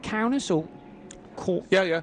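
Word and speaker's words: Kaunas: rounds at riga for instance and is it pronounced counters or yeah yeah counters yeah okay so there's a track at counters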